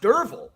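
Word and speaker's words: Derfel: fact that durfele like his name's pronounced durville but I wouldn't have known that right I thought it was d-e-r-v-e-l until I looked at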